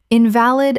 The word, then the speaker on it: invalid: Invalid, a sick person. in-va-lid, stress on first syllable. ill ow, not valid. in-val-id, stress on second syllable.